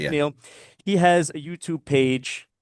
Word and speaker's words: McNeill: That's how you pronounce it, right? McNeill? Yes, Okay, that's right. Yeah. McNeill.